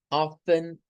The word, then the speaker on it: often: Luego tenemos Steve often eats cake at night. Cuidadito con esta palabra. Se lee como si no existiera la T. Often, often es el término a pronunciar.